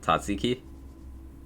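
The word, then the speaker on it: tzatziki: Let's pronounce Tatsiki.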